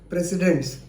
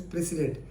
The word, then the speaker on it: precedents: are doing disc binding other precedence normally you pronounced as presidents but the pronunciation is the correct pronunciation is precedent p r e c e d e n